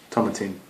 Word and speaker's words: Tomatin: In the meantime, tomatin. It rhymes with satin.